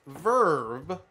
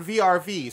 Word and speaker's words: VRV: My dumbass did not know this, but it is pronounced Verve, Oh, I don't think anybody knew that. not VRV.